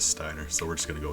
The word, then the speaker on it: Steiner: up we call them steiner but if we're looking at like the japanese like the letters the vowels that they use technically it'd be pronounced stainer but also the whole